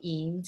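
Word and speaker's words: Eyam: england and i believe the town is called eems even though it's spelled e-y-a-m-s in the north of england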